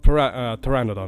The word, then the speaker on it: pteranodon: Well, pteranodon, more accurately, to be more precise. But yes. They're great. The P is silent.